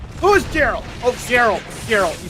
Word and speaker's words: Geralt: Geralt. You said Geralt. Geralt. I mispronounced that.